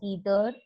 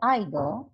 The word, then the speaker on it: either: pronunciation the pronunciation is you can pronounce either or either or neither or neither both are correct depending upon your liking you can call it